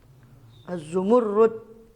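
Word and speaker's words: الزمرد: Az-zumurrud bacanya begitu memang ya, zamrud. Karena orang sini ya banyak makan gado-gado ya, jadi zamrud.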